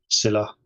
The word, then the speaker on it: Scylla: stateful workloads so Kafka Scylla hopefully plants that right again just think Cilla black syllable hack yes he's a